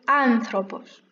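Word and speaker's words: άνθρωπος: Su questa parola vedete che l'accento tonico si trova qui, sulla A. Quindi questa parola si pronuncia o anthropos.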